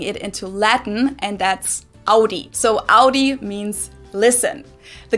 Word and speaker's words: Audi: one is Audi most Americans that I know pronounce it like I just said it Audi in German we say Audi we don't say we say Audi ah I